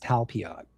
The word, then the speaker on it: Talpiot: Talpiot program. That's it. Pronounced Talpiot.